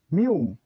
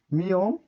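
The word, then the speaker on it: 미음: তারপরে এটি হচ্ছে মিউম, মিয়ম বা মিউম। দুইটি উচ্চারণ হয়, মিয়ম বা মিউম। যে যেটা উচ্চারণ করে একজন একরকম পড়ায়। মিউমের উচ্চারণ সবসময় কি হয়? ম, ম, ম।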